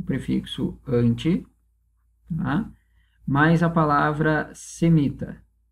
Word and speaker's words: anti: Ó, anti. A sílaba tônica é o an.